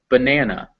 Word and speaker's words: banana: And banana, in fact, has two unstressed A's. So the first one and the final one in yellow, banana.